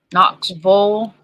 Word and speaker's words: Knoxville: all the same place Knox bow that's how you pronounce it KNX it's Knoxville not Knoxville oh that's why I'm echoing